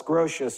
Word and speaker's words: Grotius: So as the onion was peeled by Suarez and De las Casas and Grotius, Suarez, spelled phonetically, De las Casas, Grotius, G-R-O-T-I-U-S, by Blackstone, they began to discover more and more natural rights.